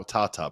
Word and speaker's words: Tata: He is now Tata Brad. That's the that's how you say it in Serbian.